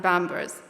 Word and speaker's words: Pampers: Pepsi, Pizza Hut, Pampers are all spelled with the Arabic B and can be heard by many pronouncing it as Bipsy, Pizza, and Bambers.